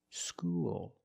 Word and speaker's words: school: dark L because the L is at the end of the word after a vowel school and when you said